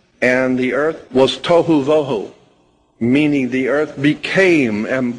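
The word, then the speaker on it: בֹהוּ: that are being translated there is too and voo pronunciation it would be t o e hyphen wh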